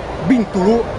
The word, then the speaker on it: Bintulu: bintulu Mi Mi raccomando la pronuncia fonetica è bintulu altrimenti non capiscono venite qui belli tranquilli